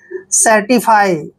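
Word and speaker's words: certify: टी आई एफ वाई देखि यहां पर भी सी के बाद ई आया तो सी का उण स करेंगे सी को हमने स लिखना है ई को एक की मात्रा पढ़ते हैं ठीक है और आर को र पढ़ते हैं टी आई को टी पढ़ते हैं एफ वाई को फाई पढ़ना है सर्टिफाई ठीक है सर्टिफाई सर्टिफाई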